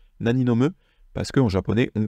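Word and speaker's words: 何飲む: sachant que cette phrase sera très souvent en fait prononcée Nani nome sans le O en fait on va faire ce qu'on appelle une nomission de particule naniome parce que en japonais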